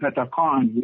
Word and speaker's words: Pethakhon: And then Pethakhon, which you say it like you're thunder. That's what the word is. So you give it that forcefulness.